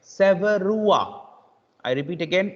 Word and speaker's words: Sevreaux: But it's actually pronounced like Severua. I repeat again, it's actually pronounced like Severua. I repeat again, Severua. Severua. It's not Severiox.